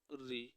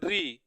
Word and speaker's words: ऋ: आजकल होने लगा है कैसे ऋ इसका उच्चारण ऋ करें तब सही है लेकिन इसका उच्चारण लोग कर देते हैं री ऋ यानी इसका उच्चारण